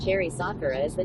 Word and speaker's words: Sakura: Uncle J Pop says Cherry Sakura is the name. Ah, that's it. There you go. Cherry Sakura. I remember because Hammer said it wrong. Said, what did he say? Sakara?